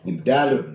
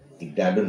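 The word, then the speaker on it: إبدال: Ibdalun makana. Tapi kalau di apa namanya? Diidhafah secara lafaz, diidhafah secara makna, beramal. Bacanya begini nanti, wa minha ibdalu makana, bukan ibdalun.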